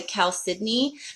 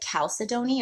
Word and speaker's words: chalcedony: what I call the Cal Sydney crystal cave so this one is Cal Sydney it spelled CH a LC e do NY phonetically it looks like Cal Sidonie or chalcedony so here's the cow